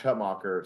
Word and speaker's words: Hutmacher: And first play, Nash Hutmacher sacks him. And I'm just yelling at the TV, Hutmaker. His last name's Hutmaker, actually. That's how it's pronounced.